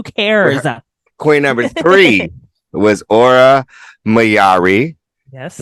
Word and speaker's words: Aura Mayari: 40 inches who cares Queen number three was aura mayari yes pronounced right she is from Nashville Tennessee now